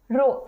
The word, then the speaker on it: rho: रो ने मत लग जाना, ये रो है, मतलब स्पेलिंग है RHO। रो, H साइलेंट होता है, रो।